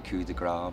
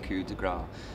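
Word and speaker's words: Coup de Grâce: Well, I say Coup de Grace, but you can say I've either. not said it right. You can say it either or.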